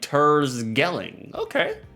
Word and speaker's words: Terschelling: The CH is pronounced as a G over here, so it's like Tersgelling.